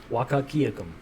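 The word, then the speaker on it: Wahkiakum: Wakakiakum.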